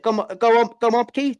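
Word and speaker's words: gołąbki: I don't know if I pronounce this right. Is it gomoki? Is it gomopki, the Polish dish?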